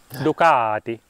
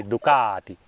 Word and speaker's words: Ducati: motorcycle thanks to ducatti ducatti to be precise oh that's how you say it yes that's how the Italian say it okay duati duati don't say ducatti okay it hurts my ear say duti okay I will try not